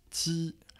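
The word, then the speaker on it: 鸡: Ensuite, tu auras bien sûr le poulet, donc le poulet en chinois ça se prononce ti, donc premier ton.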